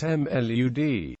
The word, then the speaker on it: my lord: In court they are properly addressed as my lord often pronounced mlud since by convention they united upon appointment.